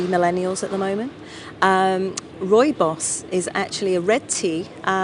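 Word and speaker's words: rooibos: before so can you tell people how to spell it because it looks different different than it's yes we say Roy boss but it's uh R double o i b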